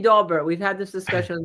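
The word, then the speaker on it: Daubert: I think right inste it's actually dobert we've had this discussion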